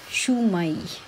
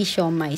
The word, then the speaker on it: shumai: niyo ang siomay dito ang pronunciation na naririnig ko sa mga Japanese is shumai shumai hindi siomay sa atin siomay ' ba sa kanila shumai shumai love for you joke